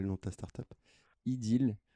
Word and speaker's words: Ideel: Ideal. Alors attention, ça s'écrit IDEEL.